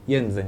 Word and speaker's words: Jensen: o sem hns porque jenzen, né, meu sobrenome, mas se escreve Jen alemão.